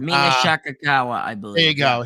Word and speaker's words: Shirakawa: Megan Bayne, Willow Nightingale, Marina Shafir, and I can't pronounce her name. Mina Shirakawa, I believe. There you go, Shirakawa.